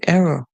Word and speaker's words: era: through our story okay remember this word is pronounced as best pronounced as ER or you can see error but it depends on you know it all depends